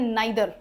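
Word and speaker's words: neither: नाइदर इसको नीदर नहीं बोलते इसको बोलते हैं नाइदर।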